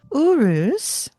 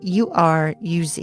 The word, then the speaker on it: Uruz: Uruz is next, and that's spelled u r u z i.